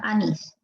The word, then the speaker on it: anís: dictado acá la palabra anís. Encaja, ¿verdad? Anís es palabra aguda y debe llevar tilde, ¿sí? Palabra aguda que lleva tilde, anís.